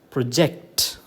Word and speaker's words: project: the second syllable um the stress falls on the second syllable so it is pronounced or uttered as project okay verb from a